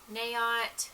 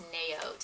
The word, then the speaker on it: Naot: like this brand actually i think it's pronounced naot it's n-a-o-t they are made in